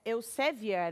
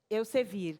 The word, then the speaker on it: Elsevier: O nome da revista é Elsevier, é isso? Está correto a pronúncia? Isso. E aí, Elsevier.